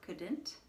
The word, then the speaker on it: could: She could swim really fast. Notice the pronunciation here, it's could. It rhymes with good. You don't hear the U or the L.